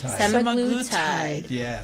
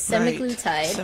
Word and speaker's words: semaglutide: sem sem seml tide semaglutide so that's how you say it guys if you see that billboard on the 15 it's semic glue tide but that's not my